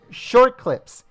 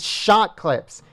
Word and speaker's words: Shot Clips: All right, folks, I just want to make a correction, and I apologize to this Patriot, but it's not short clips, it's shot clips.